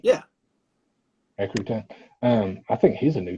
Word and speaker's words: Rutan: Is that how you say his name, Rutan? Yeah. Eric Rutan.